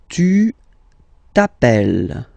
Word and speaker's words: t'appelles: All right, second form, tu t'appelles. Okay, remember, final S not pronounced. Tu t'appelles.